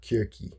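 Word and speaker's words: Κίρκη: Um Cersei in the Greek, by the way, in Greek it's called Kirki, right? Kirki, but it's spelled.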